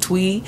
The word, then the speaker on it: Thuy: luck by Twee now she spills it t-h-u-y but don't it up she pronounces it tweet she is a Bay